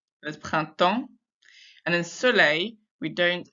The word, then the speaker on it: printemps: In printemps, we don't say the P or the S because that doesn't sound like printemps. There's printemps.